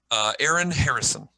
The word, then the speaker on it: Aaron Harrison: Aaron Harrison. Is that what? Like Harrison, and Aaron is Aaron.